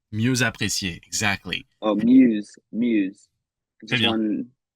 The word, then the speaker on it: mieux apprécié: Oh, you missed the liaison right here. Can you find it? Is it mieux apprécié? Mieux apprécié, exactly. Oh, muse. Très bien. Mieux, so mieux by itself, but mieux apprécié.